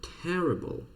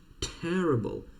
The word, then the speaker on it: terrible: Terrible. Дивіться, як я вимовляю літеру T, такою взривною. Terrible. Terrible. Така взривна. Terrible.